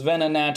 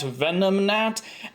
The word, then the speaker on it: Venonat: And then another viewer said that their dad pronounces Venonat Venomnat, and you know, that's just